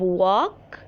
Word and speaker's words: walk: where is the verb the verb walk here w a l silent k add an e d